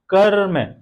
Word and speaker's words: कर्म: लोगों ने कर लिया कर्म, कर्म उच्चारण करिए, कर्म, क्या पा रहे हैं, कर्म। ये जो र है, र आधा है, हमने बताया था कि जो ऊपर वाले जो वर्ण होंगे वो आधे होंगे हमेशा, तो र आधा है, र के पहले कौन सा वर्ण आ रहा है, क, हम उच्चारण कर रहे हैं क्या, कर्म। बलाघात किस पे हो रहा है, जोर हम किस पे